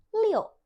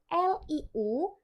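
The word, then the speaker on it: 六: hansnya seperti ini dibacanya Lio loo l iu bacanya seperti ada O di tengahnya masih ingat ya ini ini awal banget sudah jelaskan leo leo Tad 4 bukan Liu tapi Lio Lio itu en angka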